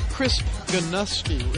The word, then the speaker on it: Chris Geinosky: Halftime Report is brought to you by HyVee and Liberty, and it's a pleasure to welcome in Chris Geinosky.